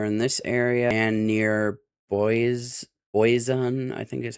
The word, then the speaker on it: Boise: We have another marginal risk of severe weather in this area and near Boise, I think is how you say it, and then near Phoenix and Los Angeles.